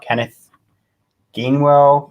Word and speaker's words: Kenneth Gainwell: Maybe even our rookie running back, if he's a backup to Miles Sanders, which is Kenneth Gainwell.